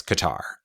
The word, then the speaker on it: Qatar: gotcha qarar cutter yeah depends on where in the world you're from it's very true I told Heather I was like I'm pretty sure it's pronounced cutter and then she's like no it's Qatar and then we're on